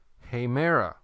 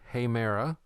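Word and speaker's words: ἡμέρα: Okay, number 3, hemera. The word for day, hemera. Notice the way I pronounced it.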